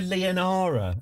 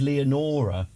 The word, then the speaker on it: Leonora: I keep on calling her Leonara. And she's actually called Leonora.